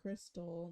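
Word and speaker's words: Krxstxl: see where quick success crystals k r x s t x l she wants to name her daughter Kirk dixel oh she said confused the name is pronounced Crystal what kind of white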